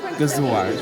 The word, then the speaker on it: Gëzuar: Gëzuar. Gëzuar.